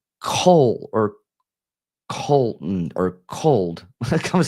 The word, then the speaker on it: Colt: It sounds like Cole or Colton or cold. I can't say cold. Like there's that Yeah. sounding name. Colt. C-O-L-T. Colt. My nephew. Colt. That's why it sounds like cold because I'm hearing it phonetically.